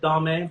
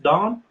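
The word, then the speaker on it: domme: personally said this i i've said dame but the fact is this is really pronounced don but when you spell it it's d-o-m-m-e um kind of like femme which okay mme so um so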